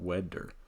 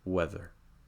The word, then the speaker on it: weather: tooth meets the gum do not press too strongly otherwise it will make a D sound so it's not wetter it's weather let's take a look